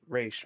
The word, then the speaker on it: Ra's: But personally for me, I say Raish mainly because my introduction to Ra's al Ghul was the Arkham games. That's how I like to pronounce it.